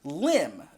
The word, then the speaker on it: lime: According to some sources, the word lime used to be pronounced limb, which was a slang